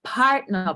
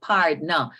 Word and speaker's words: partner: So the thing with a savings plan, or a partner plan, as we call it here in Jamaica, and some persons will pronounce and say pardner. So Pardner, or it's really a Partner.